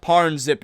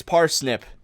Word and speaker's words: parsnip: I know it's not parnzip now, it's parsnip or something like that. I've been saying it wrong this whole time and driving all of